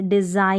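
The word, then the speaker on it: design: है जैसे डिजाइन nine तो यहां पर जी और एन अगर आप देख रहे हैं ध्यान से तो एन जो है इसका उच्चारण न होता है जब भी तो ये साइलेंट रूल्स में भी आ जाता है कि जी और एन साथ में रहता है यानी एन से पहले जी रहता है वो साइलेंट रहता है प्रोनाउंस नहीं होता है तो यहां पर इस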